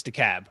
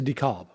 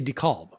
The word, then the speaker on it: DeKalb: myself about that and sorry it's it's the cab right i'm saying it right now the cab don't start don't start with me cow is it dekalb i think it's the cab as opposed to dekalb yes well i say decalb because it's named after